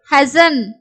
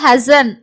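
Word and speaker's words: hasten: அதே மாதிரி ஹசன் ஹசன் ஹெஸ்டன்னு சொல்லக்கூடாது, ஹசன்.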